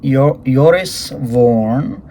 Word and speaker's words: Joris Voorn: right so today we're going to be reviewing yoris vorn I I had to look up that pronunciation so it's yo yores eures Warren and